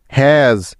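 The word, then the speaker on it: has: বুঝিয়ে দিচ্ছি যেমন দেখো শব্দের শেষে যখন এস থাকে তখন ওই এস এর উচ্চারণটা সাধারণত জ এর মত হয়ে থাকে যেমন দেখো এস এজ এইচ এস হ্যাজ ডব্লিউ এস ওয়াজ দেখলে তো এখানে প্রত্যেকটি উদাহরণে শেষে এস থাকার কারণে এস এর উচ্চারণটা জ এর মত হচ্ছে ঠিক তো আবার দেখো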